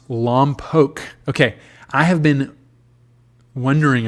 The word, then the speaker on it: Lompoc: Okay, Dan says it's pronounced Lompoc.